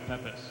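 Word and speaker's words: Pepys: Princ Rosenthal, Samuel Pepis. Yes, Pepis will accept Peeps is the accepted pronunciation, I believe.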